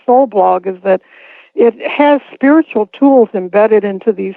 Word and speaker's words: HU: to God called H it's spelled hu and it sound like a chant and uh if I